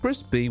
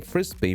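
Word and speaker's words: Frisby: Frisbee was originally named Mrs. Frisbee, which, while it's spelled differently, it sounds awfully close to the toy Frisbee, so you'd be forgiven to mistake the name for the disc.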